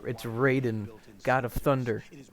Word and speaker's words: Raiden: material protects against a wire hey they are mispronouncing his name yeah it's raiden god of thunder it is referred to as